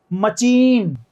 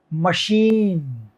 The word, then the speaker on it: machine: ये मचीन, मेरे पास एक मचीन है। सुनने में अजीब लग रहा है, कोई बच्चा कोई तोतला बोल रहा है, लग रहा है मचीन, नहीं, मचीन नहीं होगा। अच्छा, क्या बोलूं तो मेरे पास एक मकीन है, नहीं, मकीन भी नहीं होता। तो क्या होता है? मशीन। CH क्या होता है दोस्तों? मशीन।